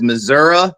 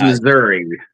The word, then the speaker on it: Missouri: I'm always fascinated with some people pronounce Missouri in a very different way, right? Yeah, it depends on what part of the state or what part of the country. Some says Missouri, some says Missouri.